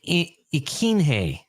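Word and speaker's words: Ikhine: So Nick Westbrook, that's what I'll call him because I believe it's pronounced Ikine, and that's what I'm going with.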